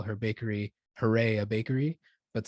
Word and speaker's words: Harea: do you pronounce, because it's like Harea, right? People are like, how do you pronounce that? And be like, it's like hooray, a band.